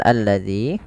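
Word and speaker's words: الَّذِي: ini di awal bacaan ini tidak dibaca dengan bacaan u, tapi ia membacanya dengan a. Ini bukan tanda harakat tapi di sini kita namakan sebenarnya adalah hamzatu alwasal. Kalau di awal bacaan dibaca dengan a, maka kita baca alladzina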